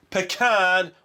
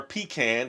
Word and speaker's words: pecan: So I have almond, peanut, pecan or pecan depending on how you say it and cashew.